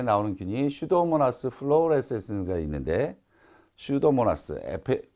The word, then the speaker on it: 슈도모나스: 자, 여기 처음에 나오는 균이 슈도모나스 플로레센스가 있는데 슈도모나스 앞에 있는 P는 묵음이에요.